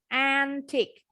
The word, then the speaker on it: antique: Yang ini bacanya kayak bahasa Indonesia, antique.